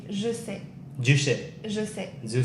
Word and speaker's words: je sais: In French, you would say je sais. Je sais. Je sais. Je sais. Yeah. Je. Je. Je. Je sais. Je sais. Je sais.